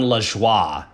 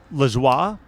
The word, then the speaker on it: Lajoie: I think it's pronounced John Lajoie. Lajoie? Okay. Lajoie, because I think it's a French Canadian name, and he looks familiar to me.